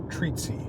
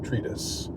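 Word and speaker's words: treatise: um he he uh he used the word tretis but he pronounced it treaty he said treaty instead of tretis and this is something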